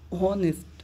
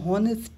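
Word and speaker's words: honest: হবে এখানে কি অনার্স অনেস্ট অনেস্ট মানে হনেস্ট না এখানে হয় আছে বলে হনেস্ট না অনেস্ট এই টা উজ্জ্ব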